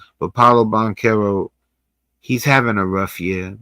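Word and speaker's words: Banchero: Harris, which Paulo Bancherro is having a I think his name is Bonerro. I've been saying it wrong for a while, but Paulo Bonero, he's having a rough year.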